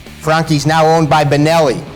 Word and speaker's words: Franchi: This is a waterfall gun, the Frankie. Often mispronounced Franchie. Frankie is now owned by Benelli.